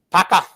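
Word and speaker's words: Puka: He might It's Paco. Yeah. Paco. Paka.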